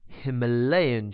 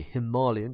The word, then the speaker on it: Himalayan: Siamese cats have the Himalayan gene, or the Himalayan, depending on how you want to pronounce it, gene, which causes their pigment to be darker at their extremities.